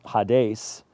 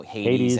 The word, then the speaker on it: Hades: So let's just talk about, you know, I'm going to pronounce Hades and Gehenna. I'm just going to pronounce it like an American, you know, Hades and Gehenna.